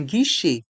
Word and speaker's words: guichet: Un guichet, un guichet. Les lettres E et T du mot guichet se prononcent et. Un guichet.